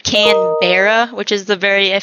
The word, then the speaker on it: Canberra: Canberra, like bruh, BRUH, bruh.